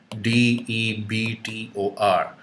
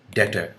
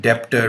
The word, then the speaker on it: debtor: D E B T O R debtor. Don't call it debtor because B is silent here.